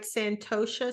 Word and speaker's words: Santosha: Through the, am I pronouncing it right? Santosha School of Yoga?